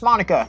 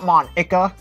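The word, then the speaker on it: Monika: It's pronounced Monica, not Monka.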